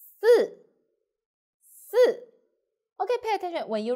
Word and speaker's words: 四: 十横竖十 So you will find number 4, 四 and number 10, 十 The pronunciation is quite confused, so pay attention. Number 4, 四四 So the tongue should be flat.